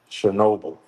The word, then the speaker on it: Chernobyl: Seo, how the do you pronounce this? Cherry Noel just exploded. What the is that? Chernobyl.